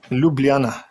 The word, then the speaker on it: Ljubljana: Ljubljana. But if you make it quick, it's Ljubljana.